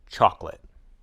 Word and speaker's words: chocolate: as three syllables vegetable chocolate looks like it has three or even four syllables but we say it as two syllables chocolate the syllable that's dropped